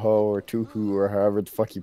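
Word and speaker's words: Touhou: It's Toho, dude. It's not hard. You can hear anybody else say it, and it's so obvious.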